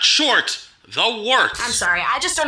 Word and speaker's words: Wort: It's pronounced the Wort. What is it? The wort? Yeah, okay, I'll do that again. This is The Wort on Govs Radio. It is the Wort. Not wart, not fort, not short.